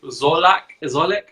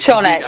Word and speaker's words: Wszolek: Is it Szolek? Is it a silent W or? It's Wszolek.